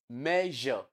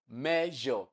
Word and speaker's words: measure: So then the next one, measure, measure. So the S there is underlined. That word is written as S, but it is pronounced as ja, like you have in pleasure.